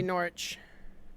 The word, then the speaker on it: Norwich: no alcohol involved dad you're going to be Norwich there you go yeah everything that's how you say it uh Jack what's that sorry so you tell you they said it perfectly yeah it's not rich I know we're missing